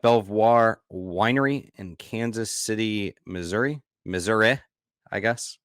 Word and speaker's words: Missouri: City, Missouri, I guess, as some people pronounce it. I don't think anyone actually pronounces it that way. But when I went to when in journalism school and Associated Press style guide, that's how they guided us, how they instructed us to pronounce it, Missouri. No one ever says that though.